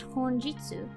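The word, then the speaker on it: 本日: This word is pronounced honjitsu, with the first kanji being hon, which is the same as the hon in Japan, and the second being jitsu rather than ni, as in Japan.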